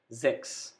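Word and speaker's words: sechs: next number six six s alphabet is pronounced as z so we call it sex number six now zeben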